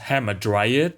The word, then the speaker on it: Hamadryas: Hamadryas, or more commonly pronounced hamadryad by English speakers, are a type of dryad.